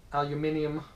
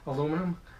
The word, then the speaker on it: aluminium: I have my GoPro in a aluminium, as the English say, cage, or as us English Americans say, aluminum. So hopefully it looks good.